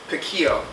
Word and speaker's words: piquillo: I have some chopped up piquillo peppers, and piquillo peppers are, you can use Italian roasted red peppers.